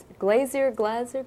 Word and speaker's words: Glaser: Now, you mentioned the director of this one, Glazer? Paul Michael Glaser, right, yes.